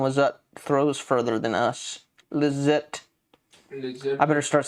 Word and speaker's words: Lizotte: Lizotte.